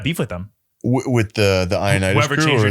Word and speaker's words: Ioannidis: And I must have just said Ioannidis, and it's been that way ever since.